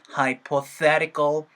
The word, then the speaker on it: hypothetical: hypo 하고 나서 세 하면서 발음이 나오면서 어떻게 되는 거예요? hypothetical, hypothetical, hypothetical 사운드. 그리고 너무 hypo 하면서 포보다는 hyper, 사운드로 힘이 좀 빠지겠죠?